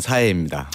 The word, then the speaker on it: 사혜: 원래 한국 이름은 박세환이고요. 근데 스페인에서 이제 제 스펠링을 세자를 AE로 적었거든요. SA. 예. 그게 스페인에서는 사혜로 불리다 보니까 오랜 시간 그렇게 불려서 지금 그게 좀 익숙해져서. 익숙해져서.